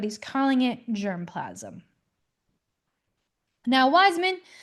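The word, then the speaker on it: Weismann: Now, Weisman… sorry, Weisman, pronounced like a V, predicted that offspring are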